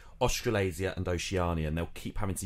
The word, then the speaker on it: Oceania: just say oceania um i only recently learned that it was pronounced oceania i kept saying oceana of course because there